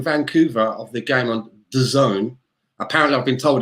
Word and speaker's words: DAZN: of the game on the zone apparently i've been told it's not dazn i've been saying it wrong it's designed i'm not